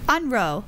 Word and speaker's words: Unroe: Unroe, like backwards in a rowboat, row forward, and unrow backwards.